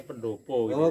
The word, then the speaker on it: pendapa: terus ini pendapat-pendapa wirakadi tulisannya pendapat tapi kalau orang Jawa bacanya pendopo gitu ya pendopo wiragati ini